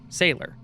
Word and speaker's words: Sailor: "Sailor," she giggled. "My name is spelled S A I L O R. Oh, like a sea sailor, I replied, smiling at her.